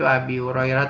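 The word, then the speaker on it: أبي هريرة: Jadi bacanya itu Abi Hurairah ya.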